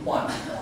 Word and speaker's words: Juan: So like here, the letter J is pronounced as the H.